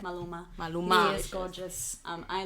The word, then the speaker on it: Maluma: The apparently Maluna. Maluma. How do you say it? It's Maluma.